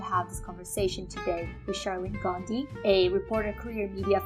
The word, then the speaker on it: Sharlene Gandhi: So I'm very excited to be here with Sharlene Gandhi. Did I pronounce this right?